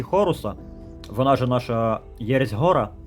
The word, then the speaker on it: Гор: вона же наша єресь гора так як по-українськи вона правильно читається як гор надіємося що будуть ще